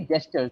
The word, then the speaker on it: gestures: mhm, Now coming to this one, this is actually gestures. This is a soft sound. This is a soft G. J.